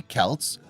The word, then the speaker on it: Celts: Despite the Romans' belief the Celts, pronounced with a hard C or K sound, were anything but barbarians.